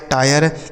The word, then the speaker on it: tire: तो आई के बाद अगर RE हो तो आई का उच्चारण आय हो जाता है, जैसे फायर, higher, वायर, टायर, inspire, मायर।